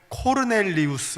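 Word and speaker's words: Cornelius: 외려 라고 했는데 제원 원래대로 이름을 발음하면 코르넬리우스 에요 코르넬리우스 입가 이거는 끝에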